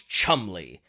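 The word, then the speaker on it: Cholmondeley: the trout memo and his name was Charles Chumley and get a load of how this guy's name is spelled so his name is Charles tremley how would you uh expect his name to be spelled um c-h-u-m-l-e-y well I would expect that too but no c-h-o-l-m-o-n-d-e-l-e-y is he British of course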